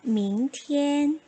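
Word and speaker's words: 明天: 明天, 明天, tien에서 IAN 또 나왔죠. EN 발음 주의하시고 밝을 명자, 하늘 천자.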